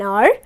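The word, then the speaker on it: hour: Okay, there are exceptions like honest and are, where H becomes silent and we pronounce it as honest and are.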